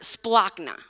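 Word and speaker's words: σπλάγχνα: And it's this weird word, splachna. Okay, that's how you say it.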